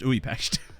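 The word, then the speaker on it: Újpest: Well, you can read it however you like, but it's pronounced Uipest, as far as I'm aware.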